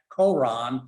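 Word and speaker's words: Qur'an: This difference between Quran spelled this way, and here's that apostrophe, which represents a Arabic consonant that they don't pronounce hardly. And so it frequently gets transliterated into English as Quran, period.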